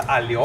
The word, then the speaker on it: aglio: Pasta aglio olio. Too many vowels for me. I need more consonants. And actually, it's A-G-L-I-O. But the O is silent? The G silent. Aglio. Not the O.